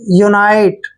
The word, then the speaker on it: unity: Next word UNITY, देखिए ऐसे ही है बिल्कुल, यू का उच्चारण यू करेंगे, ठीक है, और NI को नाई पढ़ेंगे ऐसे, और TY को टी पढ़ेंगे, यूनाइटी। यूनाइटी मीन्स होता है एकता, यूनाइटी, एकता, ठीक है। यूनिटी भी बोलते हैं इसको